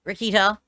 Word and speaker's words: Rekieta: is a video of Nick rakita or raetta I think it's rikita is how you say his name apparently insanely intoxicated on